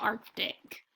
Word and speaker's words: Arctic: that I is short the first syllable says arc the second syllable says tick the word is Arctic say Arctic and remember that we